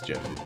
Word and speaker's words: GIF: But it's gif. You invent something, you get to pick how you say it.